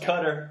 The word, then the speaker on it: Qatar: cut qatar qatar hotel it's pronounced cutter is that it really it's qadar pronounced cutter Franco is the official